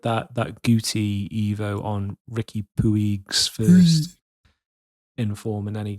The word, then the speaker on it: Puig: I have 3 different Ricky Puig Evos going on. Puig. That's how they say it here. I think it's Puig. Puig. That's how they say it on MLS, whatever, on Apple.